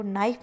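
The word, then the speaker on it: knife: फिर नाइफ की बात करें तो नाइफ में भी के अक्षर हैं वो मूक अक्षर हैं।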